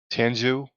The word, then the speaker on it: Tianzhou: Your pronunciations are better. Tianzhou 2.